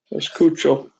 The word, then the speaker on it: escucho: y s char No you're adding an extra syllable take off the A and put an o chucha sound it out right s ESO escucho escucho everyone say it